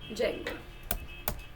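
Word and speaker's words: Django: जेंगो पे काम कर रहे हैं तो हमने डाल दिया पिप इंस्टॉल जेंगो। अरे डी साइलेंट होता है जेंगो।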